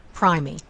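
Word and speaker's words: primigravida: but it should be a long I sound pry me cry me quadri is a prefix that means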